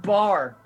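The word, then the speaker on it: Baar: It's just called bar. Okay, Yeah. yeah, that's good. That's good. Yeah, but it's spelled all It's- wrong.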